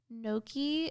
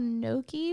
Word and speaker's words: gnocchi: Like, gnocchi is a really weird, it's like potato pasta. Gnocchi? It's called gnocchi, but it's spelled really weird. It starts with a G.